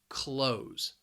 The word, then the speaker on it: clothes: is a little confusing the pronunciation because of that spelling it's just one syllable close close everybody is wearing clothes